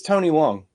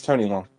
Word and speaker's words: Tony Leung: It's Tony Leung. That's right. Yeah, it's Tony Leung.